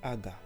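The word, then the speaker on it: הגה: Genèse est tiré d'un mot hébreu qui est prononcé aga, le mot aga en hébreu.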